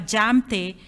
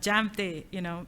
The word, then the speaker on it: Jamthe: LinkedIn group, and even my name is Jamthe, and then J is not silent. And so, you're going to think it's silent. Definitely, you're going to think it is silent. So I have to go about, saying, it's not silent.